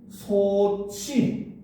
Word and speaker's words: 솥이: 자, 그런데 얘를 발음해보면 어떻게 된다? 소치 이렇게 되죠.